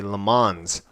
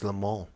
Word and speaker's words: Le Mans: way for the record I used to say LeMans when I would and I learned that that pronunce proper pronunciation is the mall the mall it sounds very limo level and